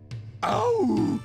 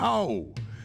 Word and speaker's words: hau: Au! Du keine Ahnung haben. Nicht au sein, sondern hau. Es ein eingeatmetes und halblanges Haar mit Betonung auf A.